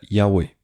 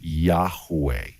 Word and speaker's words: Yahweh: So we have the yud, the hey, the vav, and then the hey. And that's pronounced, most scholars tell us it's pronounced something like Yahweh or Yahweh.